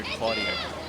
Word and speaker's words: Cloutier: Lane 4, how do you say that one again? He's one of yours, right? Yes, Tyler Cloutier. Cloutier?